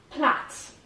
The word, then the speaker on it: plait: خب plait. به تلفظ این دقت کنید که به خاطر این آی گول نخورید.